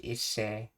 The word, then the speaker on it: hisser: One theory suggests it derives from the French word hisser, pronounced isse, to hoist, to pull.